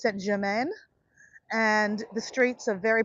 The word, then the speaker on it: Saint-Germain: area in Paris called Saint-Germain. And my pronunciation is not very good, right, guys? But it's spelled German, Germanine, something like that. But it's Saint-Germain.